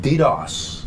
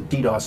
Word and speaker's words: DDoS: I'm curious about this whole technique called DDoS. Okay. Have I pronounced that correctly? Yes. DDoS.